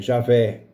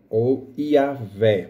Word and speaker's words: Javé: mas nós podemos perguntar já vê ou Jeová o correta é Javé ou yaveh a Giovana foi criado